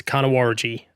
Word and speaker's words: Nyangumarta: So this will go to Nyangumarta. Now, if anyone has absolutely no idea what I just tried to say, I don't blame you. The correct pronunciation of the town is Nyangumarta.